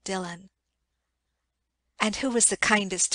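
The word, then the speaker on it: Dillwyn: w y n dwin but it is called Dylan and who was the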